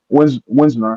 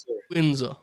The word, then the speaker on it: Windsor: Winsor. How do you say it? Winsar. Windsor.